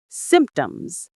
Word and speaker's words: symptoms: It's a little tricky because of the P sound in the middle that we don't really pronounce strongly. The P is very soft, almost silent. Symptoms.